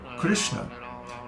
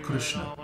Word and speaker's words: Krishna: is there's no krishna there's no i sound in krishna and when pronouncing the rsm in the middle of krishna the tongue is held